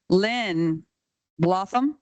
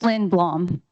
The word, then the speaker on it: Lynn Blom: Thank you, Len Blo. Or I may be reading you wrong, Len. Oh, I see your name. It's Lynn Blom. Rhymes with bomb.